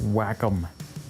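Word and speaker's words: Wacom: Oh, it's pronounced whack-em.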